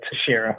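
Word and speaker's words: Teixeira: 154 by the way the x is silent it's a tashera oh tashera thank you um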